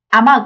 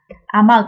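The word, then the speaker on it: 雨具: Chúng tôi không đọc nó là "amu" hay "same". Nhưng trong trường hợp này, bạn đọc nó như thế nào? Ame-gu, được chứ?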